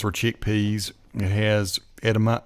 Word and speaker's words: edamame: chickpeas and it has edama edamame is how you say it it's carrots man